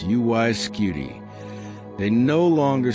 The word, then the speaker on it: UY Scuti: And now when you say those three syllables, UY Skuty, they no longer sound like a postal code.